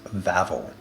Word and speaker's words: Wawel: So the castle is pronounced Wawel. In Polish, W's are pronounced like English V's.